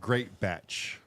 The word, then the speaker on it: Greatbatch: the podcast oh and today we have greatbatch is that how you say your last name